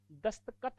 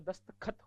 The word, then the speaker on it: दस्तखत: प्रयोग बत बलाघात कीजिए दस्त कत नहीं होता दस्तखत होता है क्या होता है दस्तखत